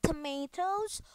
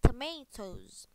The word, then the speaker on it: tomatoes: And this one, you can say tomatoes or tomatoes, yeah. But please say it like a potato, so you can say tomatoes, okay.